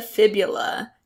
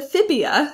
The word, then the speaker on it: fibula: So the tibia and the fibula, not the tibula and the fibia. Sometimes I hear it said that way, but let's make sure that we get that pronunciation correct.